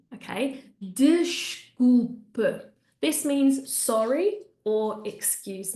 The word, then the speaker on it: desculpe: So the first one, desculpe, desculpe. There's a really good example of the sh when we have vowel S consonant and of that closed E, okay? Desculpe.